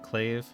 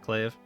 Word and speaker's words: Clave: and the lost colors claive do I pronounce it right clave not clav clave and little guy World